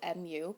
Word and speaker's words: mu: a greek letter spelled m u pronounced mu like the sound a cat makes that's how it was